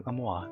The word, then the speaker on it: mua: But if you don't know how MUA is pronounced, it's kind of like you're blowing a kiss like Ammoa.